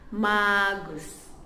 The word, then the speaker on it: Magus: And dalam bahasa Kadaz and Dusun adalah Magus.